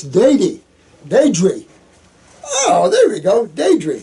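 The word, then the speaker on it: Deidre: This is Deity? Huh, a realtor, huh? My name is D-E-I-D. Deity? I pronounce Deity. Daedry.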